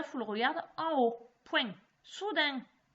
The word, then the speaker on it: soudain: Soudain. Comme ça se prononce, avec le N de main ou pain qu'on mange.